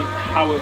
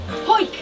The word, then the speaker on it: Howick: 7, Howick to... Howick, do you know how to say it? Howick? Danny, tell him. Hoik! Hoik. Is that how you say it?